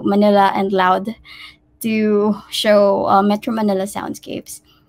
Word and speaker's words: MANILAud: software through manila manila so we pronounce it this one allowed so manila and loud to show metro manila